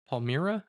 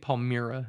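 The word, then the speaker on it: Palmyra: Palmira. I think Palm Meer is actual pronunciation to report back.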